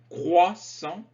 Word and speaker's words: croissant: un pain au chocolat un croissant attention la prononciation croissant de la brioche de la baguette donc du